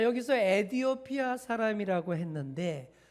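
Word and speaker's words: 에티오피아: 자, 여기서 에디오피아 사람이라고 했는데 정확한 히브리어 발음으로 아이디오피아라고 합니다.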